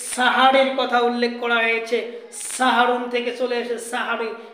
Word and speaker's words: সাহরী: তিনি বলেছেন তাসাহারু তোমরা সাহারি খাও তাসাহারু তোমরা সাহারি খাও শব্দটা এখানে তাসাহারু সাহারির কথা উল্লেখ করা হয়েছে সাহারুন থেকে চলে এসেছে সাহারি এখানে সেহরি শব্দ নয় উচ্চারণ করতে হবে সাহারি সেহরি শব্দের অর্থ হচ্ছে